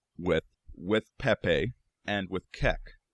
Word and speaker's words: Kek: one also worth noting it can also be pronounced cuck another coincidence and allegedly I haven't found documentation on this but the hieroglyphic spelling of kek and there's a whole